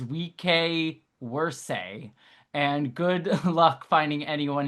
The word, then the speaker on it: vice versa: Technically, the proper way to say the phrase vice versa is we worse and good luck finding anyone who actually does it.